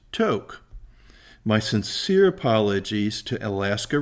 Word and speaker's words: Tok: in throughout the videos you'll hear us refer to talk but it is actually pronounced to my sincere apologies to